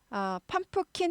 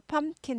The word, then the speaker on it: pumpkin: 펌프킨 하지 않고 펌킨 해서요. P가 묵음은 아닌데 잘 들리지 않아요. 펌프킨 하지 않고 펌킨, 펌킨, 펌킨 해서 P는 그냥 입모양만 해주는 거예요. 나 P 입모양 했거든 이러면서 펌킨, 펌킨.